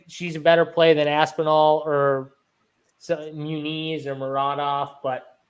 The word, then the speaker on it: Aspinall: Aspinall, yeah.